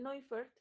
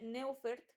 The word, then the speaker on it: Neufert: Busquen el Neufert. Se escribe Neufert, pero como es alemán, se dice Neufert.